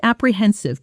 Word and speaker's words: apprehensive: I felt apprehensive before the meeting because I didn't know how they'd react to the new numbers. Pronunciation. Apprehensive. The stress is on the third syllable.